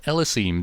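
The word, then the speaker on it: Ellesime: way listen to this it's supposed to be pronounced l-azeem don't you even know how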